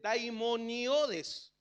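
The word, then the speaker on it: δαιμονιώδης: también pronuncia Santiago y esta palabra se dice daimoniodes De dónde viene la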